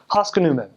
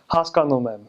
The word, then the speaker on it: հասկանում եմ: I understand, you'd say haskanumem. So you kind of like bounce over the second syllable. But a good accent would be like haskanumem, where you have the on that second syllable.